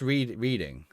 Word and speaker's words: Reading: It's pronounced reading.